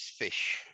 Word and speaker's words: ghoti: GH is pronounced as an F in the word enough.